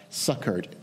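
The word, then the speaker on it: succoured: For he says, I have heard you in a time accepted, and in the day of salvation have I succored thee.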